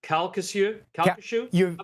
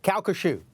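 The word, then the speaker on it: Calcasieu: in your neighborhood and I want to pronounce it correctly uh calu kashu you're very very close kushu that's it that's okayu pass number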